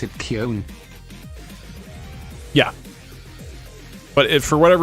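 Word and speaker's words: Köln: gbt Americans pronounced it cologne in Germany we pronounce it Kon yeah but it for whatever reason in English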